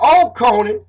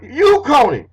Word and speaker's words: Oconee: So, it had a long O sound, which would make it not Oconee, but Uconee, Uconee, Uconee. Ooh as in, the O as in you, Uconee.